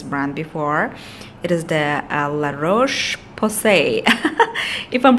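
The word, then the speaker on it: La Roche-Posay: It is the La-Roche Posay. If I'm pronouncing the brand correctly, it is actually made in France.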